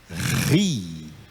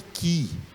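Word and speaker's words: χ: Mas o som não é de Ki. Esse K aí não faz com que o som seja de Ki. Esse K junto com o H faz que o som seja de Ri.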